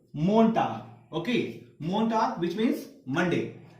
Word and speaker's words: Montag: क्या प्रोनाउंस करते हैं इसे, मोन्टाग।